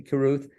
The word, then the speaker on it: Carruth: And toward that end, it's my pleasure to introduce, and I think I have the pronunciation Carruth. Is that it? That's correct. Okay, Carruth, Executive Director of the Tryon Fine Arts Center in Tryon, North Carolina.